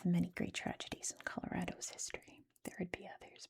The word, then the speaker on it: Colorado: It's Colorado. Okay. Don't say Colorado. Don't do it. It's Colorado.